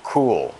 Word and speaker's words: Kuhl: Their president is Steve Kuhl, like way cool. It's spelled K-U-H-L.